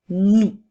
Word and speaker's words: nous: nous avons le mot nous alors dans le monde nous avons le son qui s'écrit avec la lettre N et le son ou s'écrit avec trois lettres dont une lettre muette le son ou c'est